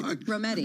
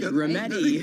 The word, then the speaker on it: Rometty: Ginny, I'm not going to pronounce your last name. That's all right. Rometty. Rometty.